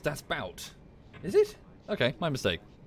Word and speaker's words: Das Boot: was like how cool is that stop saying death boot why how do you pronounce it people is that not how it's